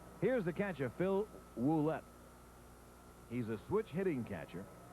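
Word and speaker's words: Ouellette: homers and 41 RBIs he spells his name o u l tte but pronounces it wet as if there is a dou at the beginning the pitch swung on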